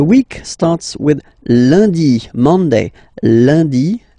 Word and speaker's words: lundi: Lundi, lundi. Okay, remember, UN is pronounced like un.